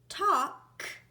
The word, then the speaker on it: talk: I'll say ah now in the word talk I hear a at